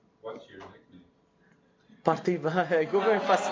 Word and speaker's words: Parthiba: First name is Parthiba. Last name is. It's actually 3 names kind of joined together. So. What's your nickname? Parthiba.